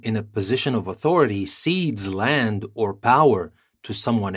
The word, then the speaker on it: cede: retaliate for and now for our next word seed CE d e Spain seeded territory to France